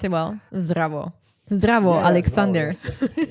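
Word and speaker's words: Zdravo: Zrao. Yeah. Okay. Did I pronounce it well? Zavo.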